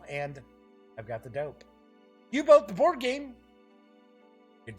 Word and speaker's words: U-Boat: Games will be releasing U-Boat, not U-Boot, it's U-Boat, the board game. I have heard some people talking about this game is pronounced U-Boot. It is not. It's just the German way of spelling boat, folks.